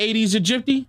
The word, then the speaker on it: Aedes aegypti: They're called Aedes aegypti and are known to carry... Oh, so I said it right. Didn't I say Aedes aegypti?